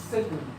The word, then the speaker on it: caecum: También se denomina, o ustedes lo van a encontrar como caecum, y se pronuncia secum, pero significa ciego, foramen ciego.